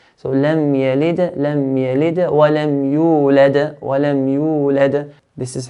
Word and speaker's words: وَلَمْ يُولَدْ: No, the qalqala that is forced sukoon at the end will be stronger than the qalqala that has an original sukoon in the middle of an ayah. So what does this mean? This means the first dal, we don't make it as strong as the second dal.